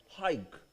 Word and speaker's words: hike: But if I say H-I-K-E, how do you pronounce it? Hike. You didn't pronounce hick.